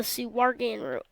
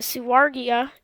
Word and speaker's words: Suwarga: And then you go over, and at the end, you can hear about a region called the Suwargan region. Now, the Suwargia is, basically, or it's actually pronounced Suwarga, but the Suwarga is a little biome is full of bananas in Suwarga.